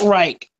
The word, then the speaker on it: Reich: ahead back Matthieu actually pronounce Frank Reich by the way like the Third Reich oh I can't agree